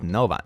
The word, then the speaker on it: Noova: middle names Goldie Rosie noova Rose pronounced Nova Nova Rose Hollow Lake that's Laken